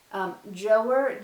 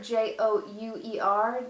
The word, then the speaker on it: Jouer: This is the, I can never pronounce this right. Jouer, J-O-U-E-R, Jouer.